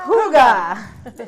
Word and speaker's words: hygge: next thing because I Hooga. forget. Hooga. Hooga. It's not spelled that way, Hooga, just in no, case it's anybody spelled wants to know. H-Y. That's why I couldn't say it. Hooga.